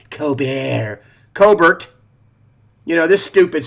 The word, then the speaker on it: Colbert: That's how his sister pronounces her name, Colbert, not Colbert.